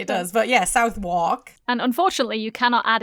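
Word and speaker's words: Southwark: Okay. It's spelled S. South. W A R K. So, how do you say that? Southwalk. W A R K. Walk. Yeah. Southwalk. It sounds like an American. It sounds like you're saying walk in an American accent.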